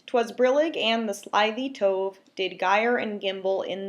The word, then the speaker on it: tove: They rhyme with lots of words, like tove could be rhymes with dove, but we don't interpret that as a verb in this context.